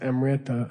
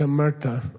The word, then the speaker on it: Amrita: Amrita. Okay. People mispronounce it as Amrita. I don't know why. It's Amrita.